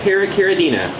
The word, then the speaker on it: Paracaridina: we got some para caridina you say a para caridina thank you that is a whole lot of syllables so probably a lot of you guys